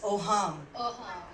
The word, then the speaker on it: AUHAAM: सबसे पहले इट is pronounced as ओहाम, okay.